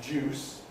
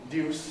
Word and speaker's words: deuce: There is an ongoing sound change, as we have mentioned, whereby d is becoming j. So that gives us another kind of juice, what would be deuce in more conservative pronunciation.